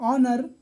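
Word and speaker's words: honour: silent है और यह ऑनर इसमें एच साइलेंट है तो जो साइलेंट लेटर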